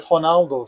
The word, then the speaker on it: Ronaldo: If it's an R, then you pronounce it like an H. So, for example, you may know the iconic footballer Ronaldo, the Brazilian one, the original one. His name here is actually Ronaldo.